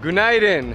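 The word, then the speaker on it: Günaydın: Gunaydın.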